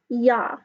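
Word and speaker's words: ja: hay or hay and ya all use is pronounced yah okay so hey yeah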